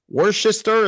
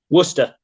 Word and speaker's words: Worcester: Worcester, is that how you say it? Worcester. Oh, Worcester.